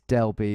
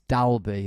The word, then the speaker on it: Dalby: There's Delby. It's Dalby, of course. Of course I've said it wrong.